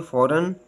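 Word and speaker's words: foreign: gave right site next silent ji जी is offer not pronounce one following bye एन एन जी के बाद अगर एन आए तो अक्सर जी आवाज नहीं देता जैसे फॉरन साइन फीन साइलेंट जी एच जी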